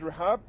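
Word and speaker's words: Rehab: thank you now yeah my name is RAB is spelled ahme D RAB is spelled r h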